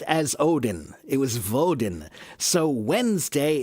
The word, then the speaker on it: Odin: Odin. Odin is how we say it now.